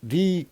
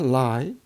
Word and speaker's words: Lie: Okay, the SON, n-dimensional SO groups are also called matrix Lie groups. Actually, this is not lie. It should be pronounced as a Lie.